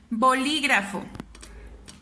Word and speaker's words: bolígrafo: ¿Dónde suena más mi voz? En li. Me doy cuenta entonces que es una palabra esdrújula porque está en la antepenúltima sílaba.